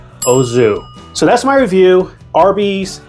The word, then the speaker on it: au jus: The proper way to say this word is, you ready for it? It's not what you think. Ozu. Nothing crazy, nothing fancy, just nice, simple, proper. Ozu.